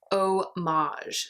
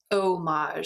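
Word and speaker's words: Eau Mage: had was dipped eek Oh Maj so it's spelled EA u as in Eau de Parfum and Maj Maj e as in mage like another word for magician Oh Maj so it's like the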